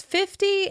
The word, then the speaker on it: fifty: Consider how we stress fifty and fifteen. Five zero is stressed on the first syllable: FIFty, FIFty.